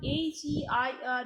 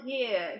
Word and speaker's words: heir: Okay, remember the pronunciation of H-E-I-R is not hair.